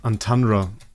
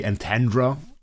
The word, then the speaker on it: Antandra: AFK journey hero and it's called Antundandra. And obviously that is a very German pronunciation because an English guy would probably say Antandra or something like this. Antra I say Antandra and that is that is super German.